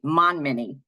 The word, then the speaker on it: Montminy: She's the Director of Communications for the Alzheimer's Association Connecticut chapter, and Joe Montminy, who I don't pronounce the T, Monminy.